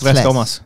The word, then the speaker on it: Tres Comas: But no, you're supposed to say Tres Comas. Tres Comas. Tres, like it. Tres. I can't roll my R's.